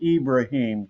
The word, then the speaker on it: Ibrahim: And then you've got another guy in uh Cabba, Ibrahim Cabba or Ibraim. I noticed he pronounces it Ibraim Cabba transfer from St.